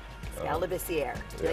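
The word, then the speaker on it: Skal Labissière: I'm not sure, but I've heard Lebisier. I don't know how they mess it up, but the correct pronunciation is Skal Lebisier. Skal Lebisier.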